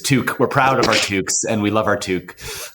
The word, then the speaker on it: toque: Um, and we call them toques. And that is spelled, uh, surprisingly t o e. And it is spelled that way because it derives from French Canadian.